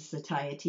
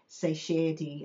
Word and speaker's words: satiety: Now, there are a couple ways to pronounce that uh word satiety. You can say satiy as well, but I like to say satiety. It's just easier for me to say, I guess.